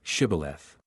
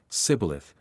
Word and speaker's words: Shibboleth: Then they would say to him, Then say, Shibboleth. And he would say, Sibboleth, for he could not pronounce it right.